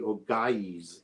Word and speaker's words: Ogyges: So when you get like Ogyges, it should actually be Ogaies in how the Greeks would have pronounced it.